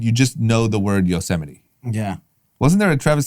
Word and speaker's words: Yosemite: his script but he didn't know how to say it no so he said you know semite yes i'm an anti-yo semi oh my god yosemite is not that obscure